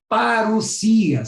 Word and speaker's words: parousia: a palavra vinda que em grego é paroqia se escreve parousia mas se pronuncia aparecia essa palavra parecia ela